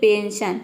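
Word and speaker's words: pension: अगला वर्ड है यहाँ पे देखिए पेंशन। पेंशन मतलब होता है पेंशन। पेंशन में देख सकते हैं एस के बाद ION आया है, तो यहाँ पे हम एस को श प्रोनाउंस कर रहे हैं।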